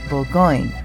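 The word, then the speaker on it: Bourgogne: Todd and I wanted to take a wine tour, so my father suggested the world famous wineries of Burgundy, pronounced Bulgo in French.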